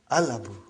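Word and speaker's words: الأب: So without anything in front, I will pronounce it as Al-Abu. I will pronounce it as Al-Abu. So I did pronounce Lam.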